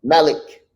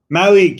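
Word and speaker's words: Malík: whose score merit marinchin merrick mellick how he's pronounced his last name malik malik yeah and he did the between the legs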